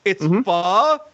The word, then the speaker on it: pho: Hold on, it's pho, bitch. That is how you pronounce it.